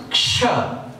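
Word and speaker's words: क्ष: K halant plus Murdhanyasha becomes Ksh.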